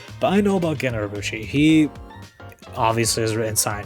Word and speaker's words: Urobuchi: Gen Urobuchi is a Japanese Apparently it's Urobuchi. Yeah, but apparently it's Urobuchi.